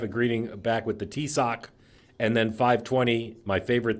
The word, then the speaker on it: Taoiseach: Paul, how do you pronounce that guy's name? Ambassador. Yeah, the guy from Ireland. Taoiseach. Huh? Taoiseach.